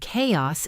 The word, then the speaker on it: chaos: The hard K sound in chaos is a telltale sign of Greek origin. Chaos. In Greek, the letters Chi Alpha Omicron Sigma were pronounced with a K at the beginning, not a SH or CH sound. So when English borrowed the word, it retained the Greek pronunciation even while writing it